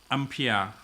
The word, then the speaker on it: ampere: ship song okay okay in french uh it's gonna be called on prayer s okay united states uh english they're gonna call ampere okay so whatever way you pronounce okay is is understandable okay uh so the